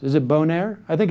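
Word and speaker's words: Boehner: You have Eric Cantor, the House Majority Leader, and John Bonnaire, I think it's pronounced. Is it Bonnaire? I think it's Bonnaire. I think it's French-Canadian. It's Bonnaire, right?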